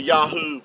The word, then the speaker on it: Yahuah: So, you didn't need the vow points to get the Yahoo pronunciation. They're they're spelled with the the the modern Hebrew, the the three letters. Uh Yahoo would give you the sound. Um these three letters here the ye the yod yad and the he and the ua would give you yahoo and uh even Benjamin